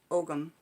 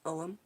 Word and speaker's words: Ogham: That's the pronunciation, not Ogham, like I thought. It's Ogham.